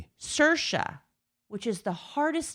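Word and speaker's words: Saoirse: Cersa, which is the hardest name in the world. Yes, it's pronounced Cersa, but it's spelled S A O I R S E.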